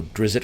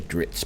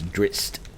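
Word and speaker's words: Drizzt: some of the classic uh dritz or drizzit however you want to pronounce this now i always say dritz but it's not it's drist i suppose uh any of his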